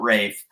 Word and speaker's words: Ralph: So his name is spelled Ralph. Fiennes. Oh, Rafe.